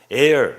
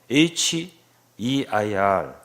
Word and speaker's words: heir: 상속자를 영어로 heir 이렇게 말해요. H-E-I-R 공기 air하고 비슷해요. 발음이 정말 differentiate 하기 어려워요. 이게 구분하기 어려워요. 공기를 말하는 air하고 상속자라고 하는 heir하고는 너무 똑같아요. 발음이.